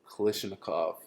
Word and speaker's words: Kalashnikov: Kalashnikov. Yeah. Kalashnikov. Exactly, Russian. Yeah. Yeah. Like the creator of.